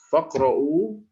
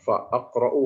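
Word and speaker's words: فاقرءوا: Faqra'u ma tayassara, bacanya faqra'. Tidak dibaca fa'aqra'u atau fa'iqra'u, tidak, ya. Kalau sendirian dibaca iqra', tapi kalau disambung i-nya hilang karena ini tidak punya eksistensi hamzah, ya.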